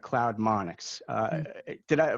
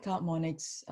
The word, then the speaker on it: CloudMonix: But a few months after you joined, I think you acquired CloudMonix. First of all, did I pronounce that correctly? Is it You CloudMonix? did. Yeah, Okay, all CloudMonix.